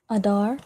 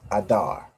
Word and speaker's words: Adar: Adar. Pronounced the exact same way. Adar, right? The a and the da and the rajin together to make dar.